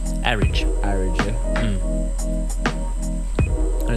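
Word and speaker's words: Arig: she says it's pronounced Arridge. Arridge, yeah. And it's very tempting to say Arrig, isn't it?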